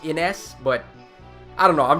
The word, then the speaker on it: Innes: I think it's actually pronounced Ines, but I don't know, I'm just going to be old school and say it the way I've always said it, Innies, like an innie belly button, but okay.